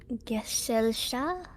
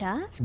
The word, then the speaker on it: Gesellschaft: pronounce that? Gesellschaft?